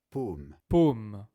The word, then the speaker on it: paume: La différence entre O et o peut être la différence entre deux mots différents. Par exemple, par exemple pomme, pomme et paume.